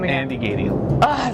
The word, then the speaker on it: Gadiel: Andy Gadiel.